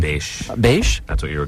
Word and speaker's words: Basche: Basche.